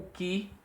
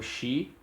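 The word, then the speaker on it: χῖ: O Ki, tem muita gente que pronunciou Xi na hora de falar o alfabeto, ele é tanto representado pela letra CH como K, H, e ele é como no alemão Wick, né? Pronunciado com som de K.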